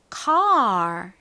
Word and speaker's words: car: 그래서 이때 A는 에 소리가 나는 것이 아니라 AR이 묶여서 나는 소리인 R 소리가 나요. 그래서 car 이라는 발음이 되죠.